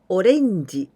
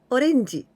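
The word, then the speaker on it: オレンジ: katakana the other example orenji when we say orange it means orange orange and our way of pronunciation orenji and we write in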